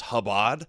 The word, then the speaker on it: Chabad: like you've never even heard one rabbi say pronounce khabad khabad.